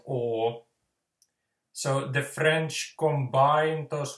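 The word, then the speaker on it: eau: So the French word for water, for instance, it's spelled E-A-U, but just pronounced O.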